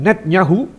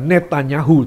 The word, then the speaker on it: Netanyahu: Sampai kapan selesai Benjamin netnyahu bukan netanyahu tulisannya netanyahu bacanya dalam bahasa Ibrani adalah netnyahu Benjamin netnyahu mengatakan kami tidak